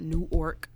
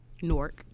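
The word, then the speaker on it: Newark: I'm from nor uh it's pronounced norc not new orc norc like apologize for that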